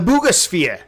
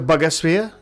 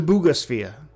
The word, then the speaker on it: Buga Sphere: The bugosphere. Is that what you say? I did say the bugosphere. It's not pronounced the bugger sphere. I believe it is pronounced the bugosphere.